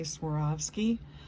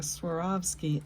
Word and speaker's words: Swarovski: And if you ever wanted to know how to say Swarovski, just think swore off skis. I swore off my skis, and you'll never have a problem saying Swarovski again.